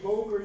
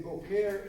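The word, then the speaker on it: בוקר: Make sure when you say boker, you put the accent on the first syllable. If you say bokeare, it means cowboy.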